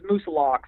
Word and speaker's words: Moosilauke: I say it Moosilauke. I may be entirely incorrect. So yeah, I say it Moosilauke until, someone in New Hampshire told me it was Moosilauke. So I still call it Mt Moosilauke.